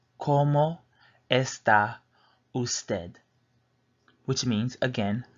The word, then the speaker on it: cómo: Again, we have como, so we pronounce that como. Say it fast, it's como.